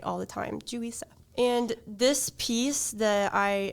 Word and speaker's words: Juri Seo: I kind of was and now I can pronounce it right all the time julisa and this piece that I am I've been